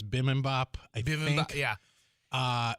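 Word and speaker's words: bibimbap: Staples of little brother how do you say bippy mop I always call it bbop but it's Bim Bop I yeah uh B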